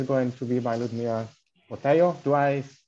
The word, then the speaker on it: Botelho: So the next talk is going to be by Ludmila Botelho. Do I pronounce it correctly? Botelho, but it's okay.